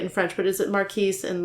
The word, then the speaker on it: Marquis: I have to tell you the canonical pronunciation is Marquis. Marquis. I think it's okay if we say it a different way, depending on how you feel about it.